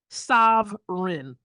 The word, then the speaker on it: Sovrin: Or here's another one, Sovereign.